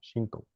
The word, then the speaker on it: Shinto: English, you say it Shinto, like Sintoísmo. Shinto.